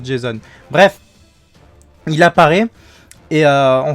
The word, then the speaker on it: Jason: Enfin argonaute, ouais, grec, qu'il est forcément, ça a forcément la même prononciation, parce que Jason, comme le Jason, le Ranger rouge, est un nom aussi américain, et comme on sait que ça se passe là-bas, ça se prononce Jason.